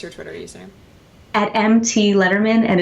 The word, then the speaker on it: Lederman: At MT Lederman, and it's LEDERMAN. It sounds like David Letterman. We say it the same, but spell it differently.